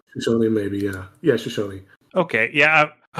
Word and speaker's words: Shoshone: I don't know how to pronounce that correctly. Shoshone, maybe, yeah, Shoshone.